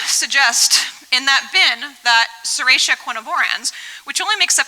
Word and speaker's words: Serratia: And so I say Serratia, I did a Twitter poll, and the majority of people said it's pronounced Serratia instead of Serratia, so I apologize to the non-US folks.